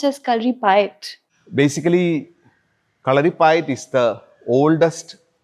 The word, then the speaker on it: Kalaripayattu: that the spelling is kali pu but it's pronounced as kali pi.